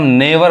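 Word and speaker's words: never: उस तरह देखिए एन ई वी ई आर इसको हम नेवर पढ़ते हैं। नेवर बहुत लोग इसको नेवर पढ़ते हैं। भी कहीं भी भ नहीं पढ़ाता है। व पढ़ाता है। वी इज प्रोनाउंस एस व sound. We sound okay नेवर मतलब क्या होता है?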